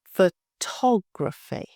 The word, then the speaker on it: photography: Photography, 4 syllables. Photography, stress.